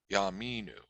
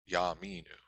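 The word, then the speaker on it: יַאֲמִינוּ: placed next to it it should be pronounced like a quick ah so a shorter patak so yaminu yaminu sometimes the hateful is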